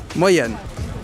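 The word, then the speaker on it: Moien: 인사하면 한국어로 안녕하세요 이라고 하는데 룩셈부르크어로 모옌.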